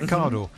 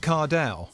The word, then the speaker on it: Cardle: Now, I've had to write your name down phonetically today, Matt Cardle, because I always call you Matt Cardell.